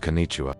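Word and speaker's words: こんにちは: It's pronounced Kenicha.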